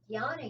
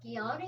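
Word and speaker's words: jnana: other types of yoga another one is yana yoga that's j n a n a is the way it's usually spelled sometimes it's spelled with a g but guyana yoga is the yoga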